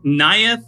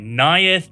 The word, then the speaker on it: Neyith: I if I say wrong okay so it's nayeth of the dire hunt and if I said it wrong it's because Seth told me and I'm sticking to that story you got it right nayeth of the dire hunt is what we're looking